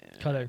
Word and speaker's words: Qatar: I know I pronounced that the stupid American way for Qatar, but Qatar.